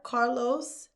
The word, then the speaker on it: Carlos: So, I had to make sure I did that s the hard s at the end.